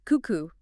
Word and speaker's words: Cuckoo: And let me uh get the pronunciation right from the start. It's cuckoo. C coo.